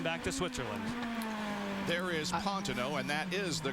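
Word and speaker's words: Pantano: sorry you're going back to switzerland there is pontino and that is the correct pronunciation by the way of that name he's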